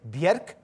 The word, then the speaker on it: Björk: One of the most fruitful creative pairings in the music video world has been that of this lady, Björk. That's the correct way of pronouncing her name, by the way.